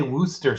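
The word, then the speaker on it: Worcestershire: long tonight oh geez just say Wooster sauce no need to mention the C County wer shy Shear Shire Wooster sauce okay easy to pronounce if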